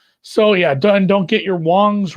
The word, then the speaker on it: Wong: So yeah, don't get your Wongs wrong, says Clint Richardson. Yeah. And it's, even though it's an A, it's pronounced Wong, not Wang. I believe it's pronounced Wong and not Wang, in fact.